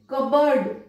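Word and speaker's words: cupboard: silent रहेगा यहाँ पे, कबर्ड देखिए यहां पर भी पी साइलेंट है, कब बोर्ड नहीं बोला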